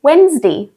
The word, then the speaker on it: Wednesday: Tuesday, we would say Wednesday. This one is actually a little bit difficult for me to try and pronounce myself, but basically it's pronounced as it's spelt. Wednesday. The D is before the N.